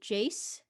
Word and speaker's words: Jace: your animal type uh yes i will be jace that's spelled j-a-c-e pronouns they them and i'll be